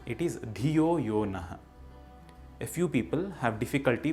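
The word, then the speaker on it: धियो यो नः: It is not Dhiyo Yonaha, it is Dhiyo Yonaha. A few people have difficulty pronouncing Sa.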